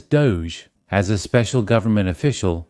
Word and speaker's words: DOGE: Here, by taking the initials, it becomes DO G, which is pronounced as Doge.